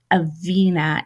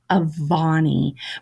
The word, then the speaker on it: Avani: I say Avina in the ep, and it is actually Avani.